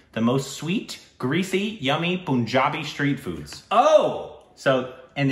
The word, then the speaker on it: Punjab: kudos to you I've been told it's pun Punjab yeah like I I'm guilty of having called